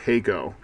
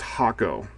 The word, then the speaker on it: Hakko: misinformation is actually the company has not actually pronounced heo that's always the way I've heard it said